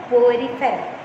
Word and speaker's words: Porifera: So listen how it is being pronounced. Okay, phylum Porifera.